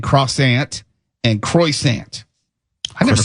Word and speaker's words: croissant: it saying crosant and croissant. I've never said that. So it's not croissant. It It's qua k w ah. Cassant. You got to roll your ars.